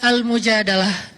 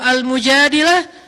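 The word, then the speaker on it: المجادلة: Jadi tergantung kita bacanya dilah atau dalah. Kalau kita baca mujadilah, berarti perempuan yang lagi curhat. Kalau kita baca al-mujadalah, berarti curhat itu sendiri.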